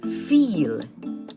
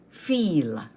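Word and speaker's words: viel: white Vice a lot feel feel v i e l remember to pronounce the v in German as F hence feel beautiful in German shun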